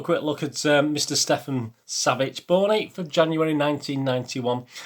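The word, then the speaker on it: Savić: Stefan Savic, that's how you pronounce it.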